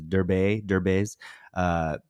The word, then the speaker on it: Derbez: I always say his last name wrong, but it's Derbez.